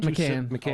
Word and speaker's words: Macan: Even the Porsche, how do you pronounce it? Macan? Macan.